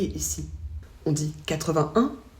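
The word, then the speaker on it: quatre-vingt-un: On ne prononce pas le « et » ici. On dit 81, 91.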